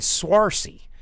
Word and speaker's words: Saoirse: Saoirse. It's Swarcy.